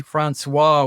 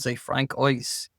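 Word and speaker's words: François: We don't use English pronunciation with French names. We say Francois. We don't say Frank Ice.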